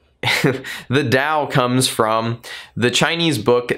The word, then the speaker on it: Tao: or Dow a chain you can spell it with a D or a T in English it's a little bit more common at times with a D because that's the way that we sound it out anyway that's not ultimately